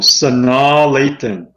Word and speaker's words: Sanaa Lathan: let's look at the let's look at the pronunciation okay all right let's see oh Sanaa Lathan oh Sana that's the thing uh when we're